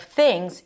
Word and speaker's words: things: And then when we connect things and off, the z sound of things, yes, it's an S, but pronounced as a Z, becomes the beginning of the next word.